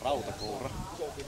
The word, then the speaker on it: Rautakoura: Now, first of all, could you please correct my pronunciation of your name? Rautakoura. Thank you. I hear it's pretty difficult for other people to say, so no worries there. Yeah, I've often tried to pronounce these alveolar trill, but I just can't.